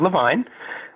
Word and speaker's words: Levine: my name is Levine rhymes with fine wine I am a writer